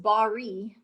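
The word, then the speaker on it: בריא: right here h1277 so this word is pronounced bari but with a rolling r but i can't roll my r's but i need to practice that uh bari and what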